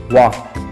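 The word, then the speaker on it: walk: a girl के medium वाल्क नहीं बोलेंगे इसको वाह क्योंकि एंड साइलेंट रहता है इंग्लिश वर्ड्स में कुछ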